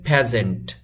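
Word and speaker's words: peasant: ওয়ার্ডটি একটু এক্সেপশনাল কেননা এটা লেখা আছে পিজেন্ট কিন্তু এটার উচ্চারণ হবে প্যাজেন্ট প্যাজেন্ট প্যাজেন্ট মিন কৃষক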